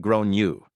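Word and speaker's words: Gráinne: She asked what I meant, and I said, well, in Ireland, they typically pronounce it like Grown-you.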